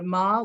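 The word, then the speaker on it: 間: of ma webinar series ma is a very common word in japanese it can be pronounced in many ways such as ken khan aida i indicating the different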